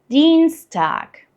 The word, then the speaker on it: Dienstag: Dienstag. Dienstag. Same here, we got a long stretched E sound, and whenever you see IE written in German, it just becomes a long stretched E sound.